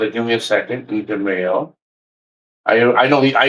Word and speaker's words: DeMayo: Uh and of course Let me I mispronounced it. Give me a second. DeMayo.